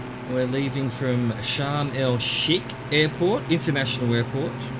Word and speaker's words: Sheikh: I was pronouncing it Skeek yesterday because that's what the game, inside the game, was labeling it. Outside on the main map it's S-H-E-I-K-H, and I looked at Google and that's exactly how it's meant to be pronounced.